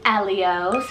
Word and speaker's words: Elio: a well-shruted name meaning warmth of the sun Elio e-l-i-o-lio this one's an Italian rooted name meaning